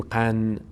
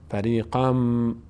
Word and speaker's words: فریقاً: ما دیگه الان اینو تنوین رو این نون تلفظ نمی‌کنیم به جای این نون یک میم تلفظ می‌کنیم چون این نون رو ما تبدیل کردیم به میم بعدی چی میشه؟ فریقم قم نمیگیم قن فریقم به خاطر اینکه بعدش